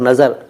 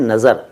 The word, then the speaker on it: नज़र: फॉर नज़र, pronunciation, नज़र के लिए अमित प्रोनाउंसिएशन है नज़र, नज़र, नजर नहीं, नज़र, नून जोए और रे, हिंदी में न जा के नीचे बिंदु और र, नज़र, और अंग्रेज़ी में NAZAR, नज़र, ठीक है, नज़र के